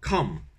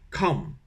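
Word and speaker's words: cảm: Donc cran comme du cran, et avec me à la fin, cram, cram, voilà. Donc cram.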